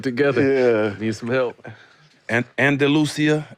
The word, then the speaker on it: Andalusia: Andalusia, Alabama. That's how you say it.